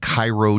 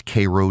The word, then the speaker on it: Cairo: They have Cairo, Georgia, but it's Cairo, Georgia. You got to know these things, these original.